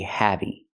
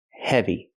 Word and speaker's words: heavy: say this is really heavy heavy the word is pronounced heavy again we see the short e sound like red and 10 e e he heavy not heavy but he heavy example the elephant is